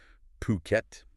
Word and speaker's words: Phuket: And just for clarity up front, we'll be referring to Fuket as Phuket. That's uh how you'll often hear it pronounced locally.